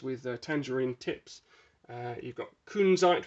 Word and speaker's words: kunzite: You've got kunzite, which is often pronounced as kunzite by my girlfriend, but it's not. Kunzite.